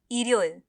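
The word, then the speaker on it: 일요일: Korean में होता है इरियोइल इरियोइल इसमें भी हम अपने उच्चारण पर ध्यान देंगे तो यह हो जाएगा इर यो इल इल नहीं ठीक है ये चीज को हमें याद रखना होगा अब एक बार आप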